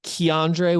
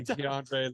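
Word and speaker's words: Keondre: this to you Craig it's Keandre with a K Coburn I'm sorry I know I I don't want to do it I want to be that guy but it's Keandre I said it wrong forgive me DeAndre lots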